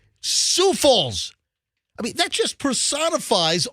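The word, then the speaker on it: Sioux Falls: them but I hello sou Falls is in South Dakota it is not Sauk Falls su falls I mean that just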